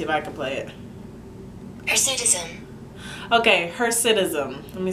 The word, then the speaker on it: hirsutism: watched so many youtube videos people say hesitism hersetism i say hersetism is spelled h-i-r-s-u-t-i-s-m so